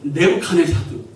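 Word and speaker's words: Nebuchadnezzar: 근데 영어 발음은 네부카네사드.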